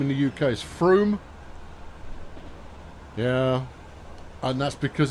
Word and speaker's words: Frome: Should be pronounced Frome, because that's how it's spelt.